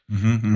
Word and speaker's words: Machen: Machen.